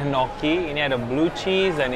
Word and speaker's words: gnocchi: Ini namanya gnocchi, pronunciation-nya gnocchi.